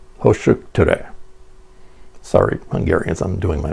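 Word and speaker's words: Hősök tere: We got off the metro at a stop with this name, pronounced Hoshuktere.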